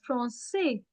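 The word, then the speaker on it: français: only for the reason to change the sound of क टू स for example it's never from के इट्स फ्रॉसे it's never लेकन it's less less it's never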